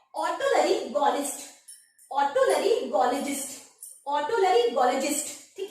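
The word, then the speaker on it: otolaryngologist: Doctor के पास जाएंगे, ऑटोलरिंगोलॉजिस्ट, ठीक है, इसका प्रोनाउंसिएशन यही होगा, यानी गले से संबंधित जो भी बीमारियां हैं आप इस डॉक्टर के पास जाएंगे, ठीक है।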